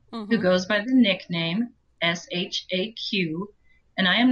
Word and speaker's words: Shaq: Iraq, and I said shock. Oh, no. And she said, well, this chapter that you just posted is great, except that his name is pronounced Shaq.